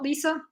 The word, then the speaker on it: LISA: That very much depends who you ask. You know, I change how I pronounce it all the time because I've heard both. Some people call it Lisa, some people call it Lisa. I think it also depends where you're from, because Lisa is a common name in different parts of the world, and everyone pronounces it differently.